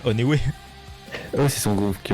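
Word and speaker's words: ONEWE: Ça, c'est Oneway, ça se prononce. Ah ouais, c'était pas One Lui. Non, mais en français, tu dirais Oneway.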